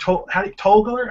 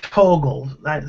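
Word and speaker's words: Torgl: original Toxic Avenger, Mark Togler? How do you say his name? No, Togler. Mark Torgel. Mark Togel, say the name right, who Yeah.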